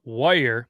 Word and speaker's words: weir: Like if you were to, how would you say something that's probably W-E-I-R? That's not like a weird thing. Like it's right. Weir or wire. So that's people up here call it wire, but it's clearly in my eyes weir. Yeah, because the E's first.